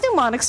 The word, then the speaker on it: mnemonics: But, mnemonics help out. Why is mnemonics spelled with an M, if it's not pronounced with an M?